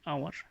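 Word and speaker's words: hour: এর উচ্চারণ আসছে না আওয়ারেও এইচ এর উচ্চারণ আসছে না এখানে এন হবে so let's go টু the next rule.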